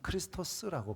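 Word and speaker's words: Χριστός: 원래 그리스어로 메시아라는 그리스도라는 말은 원문에는 크리스토스라고 발음하게 되는데요. 이것을 음역해서 우리가 그리스도라고 하잖아요.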